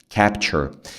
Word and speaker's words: capture: Capture. Muitas palavras, se você ver palavras assim no inglês, cara, você vai usar essa pronúncia, tá? Capture. É chur. É um som de chur mesmo, sabe?